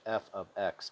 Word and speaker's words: f(x): We pronounce the function notation as, quote, f of x, end quote, or given f parentheses 2 and parentheses, we say, quote, f of 2, end quote.